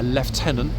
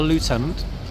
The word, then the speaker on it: lieutenant: Above the Corporal of Horse, we sometimes have at the 4 o'clock a Lieutenant. There we are. folks, I've been practicing my pronunciation. Not a lieutenant, a lieutenant. Okay, British pronunciation of lieutenant.